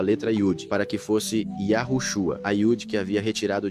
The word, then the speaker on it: Yahushua: Hei Vav Shin Ayin, e isso se pronuncia Yahushua, não Yahshua.